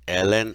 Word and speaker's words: ln: you see y equals Ln X 9 this is pronounced as L n so Y is Ln